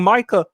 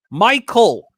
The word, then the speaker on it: Micah: Because when Micah Parsons is demanding a trade request, and remember, Jerry keeps calling Micah Michael Parsons.